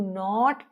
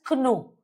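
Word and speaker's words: know: It will not be pronounced as Ko. K will be silent.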